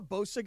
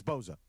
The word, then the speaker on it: Bosa: I'm a Bosa guy. You're a Boza guy. It's Boza. It's pronounced with a Z.